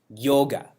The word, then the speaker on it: yoga: It's pronounced yoga. How do we pronounce it? Yoga. Like it's more exotic.